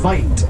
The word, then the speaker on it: wit: There's a word from that dialect pronounced vite spelled wit that was loosely translated when they were named to white.